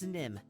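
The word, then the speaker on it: Nimh: Yeah, it's Nim. There's an H on the end, but don't worry if you spell it wrong.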